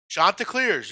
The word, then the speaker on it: Chanticleers: Chanticleers, yes. Chanticleers, okay, I'm pronouncing that right.